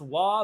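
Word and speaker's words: は: Oh, one thing I should have noticed before, or noted before, is that the wa particle is pronounced wa, but it's spelt like ha.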